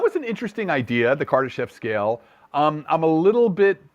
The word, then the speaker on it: Kardashev: The my pronunciation of it is the Kardashev scale.